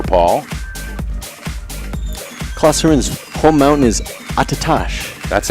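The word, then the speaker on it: Attitash: Klosterman's home mountain is Attatash. That's Attatash.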